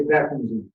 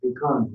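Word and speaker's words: भैषज्ये: In India, they say Bekanji. In Sanskrit and Tibet, it's Bikanji. That's how I know.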